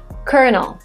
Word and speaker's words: colonel: was borrowed from French, so the way it is written has nothing to do with the way it's pronounced. Colonel.